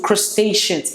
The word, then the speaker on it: crustacean: know okay and then when it comes to Crustaceans it's pronounced Chris crustaceans crustacean crustacean when we talk